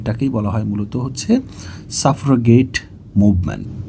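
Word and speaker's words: suffragette: বলা হয় মূলত হচ্ছে সাফারগেট মুভমেন্ট এটার উচ্চারণ ভিন্ন জায়গাতে ভিন্নভাবে সাফার গেটটি এরকম থাকতে পারে সেটা আমাদের এখন মুখ্য বিষয়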